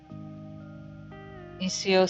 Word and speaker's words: Xxiou: Xxiou is pronounced Xxiou system is close to Minecraft with more crafting,